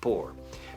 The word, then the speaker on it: pour: Se pronuncia como pobre, pour.